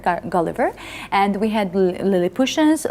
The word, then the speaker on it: Gulliver: here that uh in georgia we usually say gulliver but the correct pronunciation of this name is gulliver gulliver and we had lily pushes laputans and uh